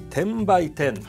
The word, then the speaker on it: 10×10: の 10×10 と書きまして、10 by 10 と読むそうなんで